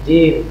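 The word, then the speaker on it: جيم: Nah, ini jim. Jadi bukan ja. Ini bukan ja, tapi apa? Jim.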